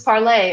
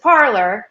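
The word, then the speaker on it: Parler: It was Parlay originally. And then, as you were saying in your little film in the intro there, a lot of people around here just pronounce it parlor. And perhaps if we want to even reboot the pronunciation, we might be asking too much of Americans to say it parlay. So I would give people a choice at this point.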